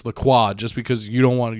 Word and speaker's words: LaCroix: all the time it's not lacroix white soccer moms and kroger it's the quad just because you don't want you're not french